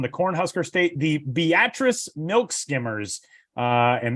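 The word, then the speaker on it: Beatrice: Josh tackles uh a team from the Corn Husker State, the Beatatric Milk Skimmers. Uh and that is the way that you pronounce that town's name.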